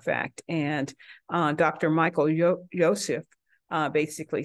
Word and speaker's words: Youssef: and uh Dr Michael Yosef basically says I think it's pronounced Yusef as um writes Jesus